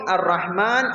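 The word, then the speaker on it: ٱلرَّحْمَٰنِ: The Ra in Ar-Rahman is read with heaviness, Ar-Rahma, and the Ha in both Ar-Rahman and Ar-Rahim should be pronounced softly from the middle of the throat.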